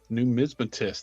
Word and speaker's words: numismatist: Most folks can't pronounce it correctly either. New mismatist. That is correct.